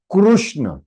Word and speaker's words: कृष्ण: कृष्णा कृष्णा कृष्णा, अवर कृष्णा will say oh he is calling somebody else, but if you say कृष्ण he will get alert, अरे who is calling me? Tell me my son, what do you want? है ना, कृष्ण।